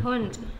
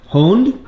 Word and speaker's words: Hund: How do you say dog in German? Hund. Hund? Hund. Oh, like hound.